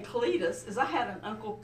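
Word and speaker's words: Clydeth: And his name is Cletus. and it's spelled C-L-Y-D-E-T-H, the Welsh spelling.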